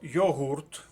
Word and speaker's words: йогурт: з першого слова це слово йогурт наголос на другому складі зверніть увагу небезпечне слово і записуємо його в другу колонку рекомендується слово запис писати